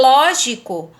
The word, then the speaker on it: lógico: E em lógico, é a primeira sílaba que é tônica.